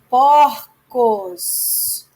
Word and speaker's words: porcos: Olha, porco está fechado no singular. E no plural, porcos, aberto.